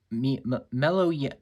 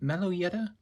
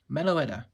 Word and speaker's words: Meloetta: how shiny she is mellow yet Meloetta Meloetta that's how you say her name she's great love the